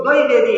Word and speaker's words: द्विवेदी: गलत तरीके से उच्चारण नहीं होना चाहिए, शुद्ध उच्चारण करना चाहिए, तो इसको द्विवेदी हम बोलेंगे।